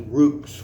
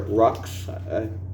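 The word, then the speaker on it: Ruhks: You're reading about the Ruks, which is spelled R-U-H-K-S, or Rux. Depends on how you want like it.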